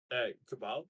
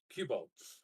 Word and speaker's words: Kubal: I've decided for the betterment of the people that Kubal is pronounced Cubal.